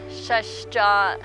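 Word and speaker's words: Shash Jáa': go it's all my bears ears in Navajo is pronounced as shush jaw and the buttes symbolize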